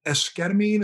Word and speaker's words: esketamine: Talk to me a little bit about your research with esketamine.